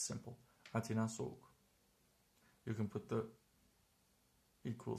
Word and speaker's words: soğuk: This will be completely omitted. So it's pronounced soğuk, soğuk, soğuk, soğuk. In some dialects you will hear soğuk, soğuk with a little, like the Greek gamma actually. But in standard Turkish we don't pronounce it at all.